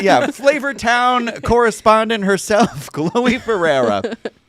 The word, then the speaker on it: Ferreira: Kid, Fiera.